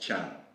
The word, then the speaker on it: Thiam: How do you say your surname? Tiam. Tiam. I was going to say Thiam with so much room. But in Wolof, because I'm from Senegal, right, it's pronounced Chan.